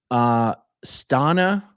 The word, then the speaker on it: Stana: Stana rhymes with Donna.